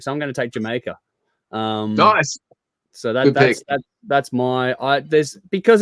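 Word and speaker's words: D'yer Mak'er: It looks like Diamaker, but it's pronounced Jamaica.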